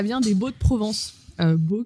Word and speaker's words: Baux: Beau, qui s'écrit donc B-A-U-X, parce que c'est la